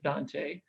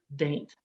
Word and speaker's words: Dante: You can either go with Chaucer and call it Dant, or my personal favorite, Daint.